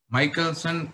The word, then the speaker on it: Michelson: people are pronouncing as michaelson some sometimes people are pronouncing as michelson but whatever you are pronouncing i am pronouncing michaelson okay so the lifespan